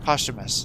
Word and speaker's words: posthumous: Posthumous, that's how you say it.